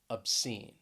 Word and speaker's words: obscene: lights next is the word obscene obscene stress is on that second syllable obscene then we have resuscitate